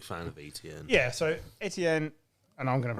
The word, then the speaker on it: Etienne: Yeah, so Etienne, and I'm going to pronounce it properly, 28 carries, 109 yards, 2 touchdowns.